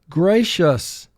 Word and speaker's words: gracious: First syllable gray, 3 sounds. G, r, a. Shus, 3 sounds. Sh, s. Gracious. Mark the word. Gracious. CI represents the SH sound.